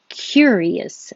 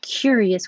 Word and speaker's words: curious: hope not okay courteous courteous and curious sounds similar but you're starting curious with your tongue very high in a y position because you're getting ready to say cure near curious and this one cur i don't have to have my tongue super high in the middle only in the back for the k ker but 25 i start with my tongue in the high in the middle and the back cure curious i'm curious how